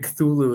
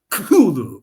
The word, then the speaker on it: Cthulhu: I learned that Cthulhu, he wrote it that way because it was supposed to be a word that you can't pronounce with a human mouth. So like even Cthulhu is not correct. It's actually, you're supposed to put your tongue to the roof of your mouth and say Cthulhu and like breathe it out that way.